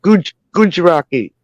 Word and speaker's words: Gujarati: pronounce it? Gujarati. No, Gujarati? Guj, Guj, Guj, Gujarati. Gujarati, Gujarati. Oh, Gujarati.